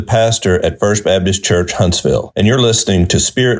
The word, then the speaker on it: Huntsville: Huntersville folks. Huntersville. I like how it said Huntersville. It's Aw. called Huntsville.